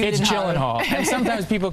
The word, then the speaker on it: Gyllenhaal: fun and you know regardless of my last name or how to pronounce it okay yeah Jake you jillen Hall and sometimes people call